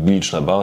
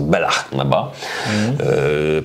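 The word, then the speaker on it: Bealach na Bà: Ja zaszczytałem Bilicz na Ba, się okazuje, od kolegi się dowiedziałem niedawno, że to nie czyta się Bilicz, tylko po szkocku jest to Belach na Ba.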